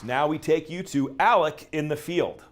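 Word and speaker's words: Alexc: My name is spelled A-L-E-X-C, and the X is silent. It's pronounced Alec.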